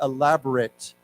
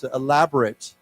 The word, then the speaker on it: elaborate: very fancy very but remember the pronunciation is slightly different we say elaborate okay okay so why don't we say that together it's actually elaborate elaborate so we talk